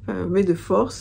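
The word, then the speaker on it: May the Fourth: donc mes deux forces mais de force je sais pas comment le prononce ça se prononce comme oui comme B2 force ça se prononce comme mes efforts qui est donc la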